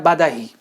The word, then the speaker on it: بدیہی: تو پھر بدیہی کیا تلفظ میں بس بدیہی تسامحاً بولتے ہیں، اصل میں وزن کیا بنتا ہے؟ بدہی.